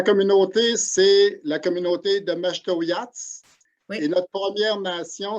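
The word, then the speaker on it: Mashteuiatsh: Prononcer la communauté. Alors, la communauté, c'est la communauté de Maastrichtière.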